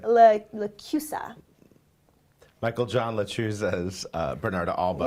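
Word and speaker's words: LaChiusa: I mean, that Michael John Latruza, am I saying it right? Lacusa.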